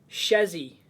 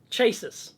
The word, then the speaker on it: chassis: I've got a friend who, when we were young, he used to call chassis, like a chassis, chasis. Because that's how it's spelled.